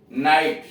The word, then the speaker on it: knight: इन शब्दों में GH silent है, सभी शब्दों में देख रहे हैं GH साइलेंट है, और नाइट में K तथा GH तीन अक्षर साइलेंट।